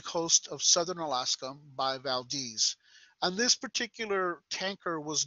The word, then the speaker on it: Valdez: the exxon valdez now for those of you who are spanish-speaking it's valdes but they call it valdez up there and so i'm going to pronounce it like they do so that there's no confusion there's millions